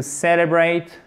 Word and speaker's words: celebrate: time it's time to celebrate celebrate accent tonique sur la première syllabe il est temps de